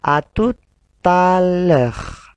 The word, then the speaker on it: à tout à l'heure: Haknya tidak dibaca karena huruf vokal. Allez, répétez encore. À tout à l'heure. À tout à l'heure. Harusnya seperti itu. Akan tetapi ketika digabung, T-nya masuk ke A.